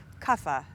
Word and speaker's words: Kapha: practice with me so what is Kaa or as it's sometimes pronounced kafa well it just corresponds